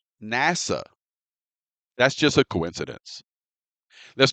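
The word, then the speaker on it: נסע: And first, notice that the Hebrew word translated as journeyed is the Hebrew word pronounced nasa.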